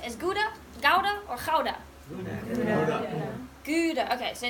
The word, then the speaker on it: Gouda: Do you guys pronounce it as Gouda, Gouda, or Gouda? Gouda.